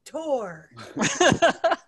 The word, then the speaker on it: Thor: Is that? It's pronounced Tor.